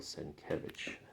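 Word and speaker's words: Sienkiewicz: you go here's the credits for that bill senke that's how you say his name there's scarlet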